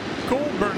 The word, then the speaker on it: Goulburn: Goulburn, I believe, is the proper way to say the hometown.